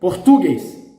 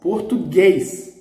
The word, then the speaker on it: português: Reading with the stressed syllable in the penultimate, Português, Português. It's wrong. You know, we talk about Português. So the stress is in the last one.